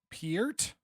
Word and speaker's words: Peart: USA Hockey line chart the phonetic spelling is p-u-h-r-t one syllable so Peart I I don't think